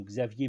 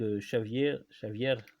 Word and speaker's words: Xavier: Donc Xavier, en fait le X se prononce che comme en catalan, comme en portugais ou en vieil espagnol, hein.